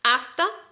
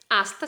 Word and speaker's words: hasta: las dos letras porque la letra h no se pronuncia así entonces cuando digo hasta hasta se escribe con h